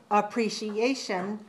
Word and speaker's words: appreciation: syllables ah pre-shielene good watch me watch me appreciation appreciation five syllables appreciation appreciation appreciation five syllables stress the fourth one okay now how